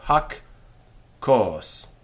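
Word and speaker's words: הַכּוֹס: the word the cup however the word the ha requires a long syllable and the way it gets that is in most cases by doubling the following letter and the first letter then goes to the first syllable and the second to the second so hak course hak course the cup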